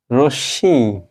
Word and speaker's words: রশ্মি: না আমরা কি বলবো রশ্মি কি বলবো বলো দেখি আমরা বলবো রশ্মি এখানে তালবসা লিখতে হবে কারণ মোটা স উচ্চারিত হচ্ছে আর এই ম এর জন্য শেষে দিয়ে দাও চন্দ্রবিন্দু তাহলে হয়ে গেল রশ্মি সুতরাং আমরা বুঝতে পারলাম